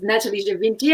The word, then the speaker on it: Nathalie Gevinti: what you do um so my name is natalie javinti i'm very very impressed with your pronunciation that was perfect scott well done um